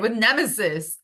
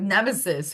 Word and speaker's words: Nemesis: With Nemesis. I said her name wrong. With Nemesis, who was the goddess of retribution and hubris.